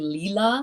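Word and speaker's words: Lila: if i'm pronouncing this probably leela it's like l-i-l-a-a studios so josh is a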